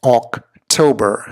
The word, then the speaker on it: October: it is not October it is not October as some would have you believe it is October so the emphases the the weight on the second syllable right here October so just to